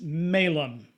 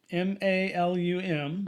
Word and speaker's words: malum: Well, the Latin word for apple is malum. M-A-L-U-M, but it's pronounced malum. And so, but the Latin for evil is spelled the same way, but it's pronounced malum. So there's probably a little accent mark over it that's different. So it's malum or malum.